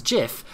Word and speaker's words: GIF: what it stands for he could have spelt it with a bloody K and called it kif but if he says the pronunciation is jiff then that's what a bloody